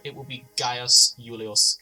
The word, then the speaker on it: Julius: All V's will be pronounced as a W, and all J's will be pronounced as a Y. For example, instead of Gaius Julius Caesar, it will be Gaius Julius Caesar.